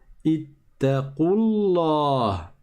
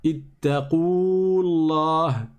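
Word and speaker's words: اتقوا الله: On passe donc de la lettre Qaf directement à la lettre Lem. Et on dit Ittaqullah. Ittaqullah. Ittaqullah. Et on ne dit pas Ittaqullah. On ne prolonge pas parce que le waw disparaît à l'oral.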